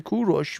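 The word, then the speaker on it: کوروش: because Cyrus comes from kurosh which is the actual name that we we Persians call it uh that became Cyrus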